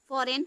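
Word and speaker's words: foreign: फॉरेन, फॉरेन बहुत ज़्यादा आता भी है आपके बोलने में भी, पर किताब पढ़ने में, फॉरेन कंट्रीज के लोग ना, ठीक है।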